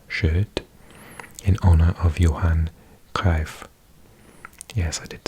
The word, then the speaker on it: Cruyff: Okay, I'm like, it's pronounced Cruyff.